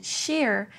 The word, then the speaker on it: sheer: The ch of cheer is pronounced similar to the ch of cherry. The sh in sheer sounds like the sound you make to tell someone to be quiet, like sh.